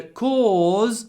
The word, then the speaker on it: cause: about cause and because so cause has a long or sound with a z at the end cause cause try to make it at least two sounds co co cause cause but because is a short op sound because because because because cause because cause because so be careful with those two words right 157 I can